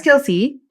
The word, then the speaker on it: Kelce: Travis Kelce, that's how you pronounce his surname.